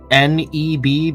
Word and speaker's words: N3B: This is NEB, but it's spelled in leet speak, so it's like capital N3B.